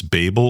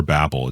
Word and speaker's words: Babel: A- L but it's Babel or Babel it depends on if you're American or um from the UK like it's pronounced differently it's a Babel in the UK and Babel in American language it's